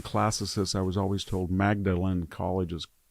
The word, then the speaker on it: Magdalen: I mean, somebody told Magdalen College is pronounced Magdalen College, but I'm not.